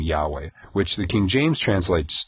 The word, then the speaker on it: Yahweh: and um in in Hebrew it's uh it's pronounced Yahweh and it's now there's no vowels with it